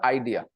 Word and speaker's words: idea: it is idea not idea the stress is on the second syllable Idea Idea IA idea